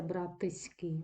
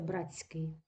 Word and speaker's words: братський: брат Братський завод заводський коли ми з вами вимовляємо це слово тому чуємо спрощення у нас немовляться братиський насиляється Братський не вимовляється заводський амовляться заводський але на письмі це спрощення не закріплене на письмі ми з